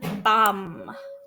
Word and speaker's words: bomb: And bomb, okay? It's almost like a silent B at the end.